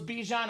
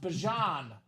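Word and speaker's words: Bijan: We thought it was Bejon. Apparently pronounced Bjon Robinson that clean Falcon Flex.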